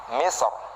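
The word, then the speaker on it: مصر: Maka kita boleh membacanya dia tebel, boleh juga kita membacanya dia tipis. Oke, contohnya misr ya. Saya baca tebal dulu. Saya baca yang tebal kata misr ya menjadi misr.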